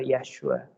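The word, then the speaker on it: ישוע: Su nombre es Yeshua. Yeshua o Yesue. Yesu. De ahí es que se ha convertido en Yesu, Jesús. Jesús terminó siendo, pero su nombre era Yeshua.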